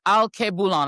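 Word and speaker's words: Alkebulan: It is Al Koulan. I'm going to pronounce I'm going to spell it for you guys so you can figure out how to get it on Substack.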